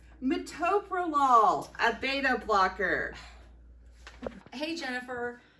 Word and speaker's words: metoprolol: when people mispronounce this drug how would you pronounce this drug and what's that drug oh metatopalon it's metoprolol a beta blocker hey jennifer you know when